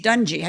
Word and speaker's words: Dungy: Tony Dungy how do you say Tony Dungy Dungey yeah he was a head coach well sure